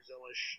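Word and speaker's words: Zilisch: He's got Connor Zilish in the, apparently that's how you say his name now, by the way, in the one car for the O'Reilly Series.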